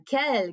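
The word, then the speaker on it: quelle: today the next one kel q-u-e-l-l-e okay so again it's pronounced the same way and we have seen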